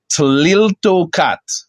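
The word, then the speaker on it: Tliltocatl: So it's pronounced Tliltocat.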